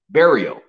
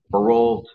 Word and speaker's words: Barriault: and it's pronounced uh in English it's pronounced burial but there's too many people that pronounce the iault at the end of it so I get a lot of burialt barolt um yeah so it